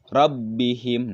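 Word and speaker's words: رَبِّهِمْ: huruf wau ID namanya izhar syafawi dibacanya rusila rabbihim him robbihim nagih ketika menyebutkan mienya itu jelasnya selanjutnya disitu adalah madu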